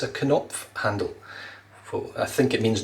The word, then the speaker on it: Knopf: in the comments that you pronounce the K and the O and the N, the O, P and the F, Knopf, as the Germans would.